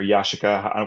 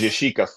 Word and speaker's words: Yashica: And for me, the whole reason I got into photography is that my dad had a Yashica C or Yashica.